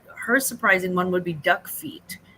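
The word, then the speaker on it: Duckfeet: surprising one would be duck feet du c k Fe T spelled like it sounds um she said it's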